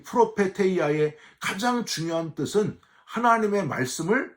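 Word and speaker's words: προφητεία: 외적인 은사, 예언 은사는 헬라어로는요, 프로페테이아, 히브리어로는 나비라고 발음을 하는데 점쟁이식으로 미리 일어날 일을 말해주는 사람이란 뜻이 아니고요.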